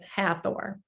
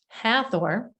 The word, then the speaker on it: Hathor: more powerful and so they don't pronounce the h and even when you